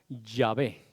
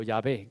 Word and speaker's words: Yahvé: Que, por ejemplo, nosotros en España llamamos a Jehová, Jehová, pero en otros lugares le llaman Yahvé, o Yahvé, como yo lo puedo pronunciar, o Jehová, cuando se pronuncia en inglés. ¿Por qué? Porque una J en realidad es una Y.